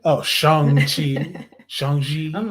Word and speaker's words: Shang-Chi: The proper pronunciation is Shang-Chi. Shang. Shang. He went over it several times. S-H-A-N-G. Shang. Shang-Chi.